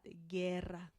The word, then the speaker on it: guerra: Gato, gota, gusano, guerra, not guerra, but guerra, guitarra, guitarra, and not guitarra.